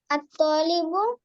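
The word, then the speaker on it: الطالب: ফাতেমা আহমেদ তুমি বলো আত্তালিবু ত তে টান হবে হ্যাঁ আত্তালিবু মারিদুন স্টুডেন্ট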